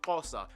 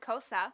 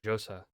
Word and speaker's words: Xhosa: But I always thought it was just pronounced Josa. Like the XH made a J. Josa. Guess I was wrong.